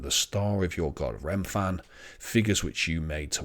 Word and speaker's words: Remphan: Chiun there, and Remphan, or Rayfan as it's sometimes pronounced.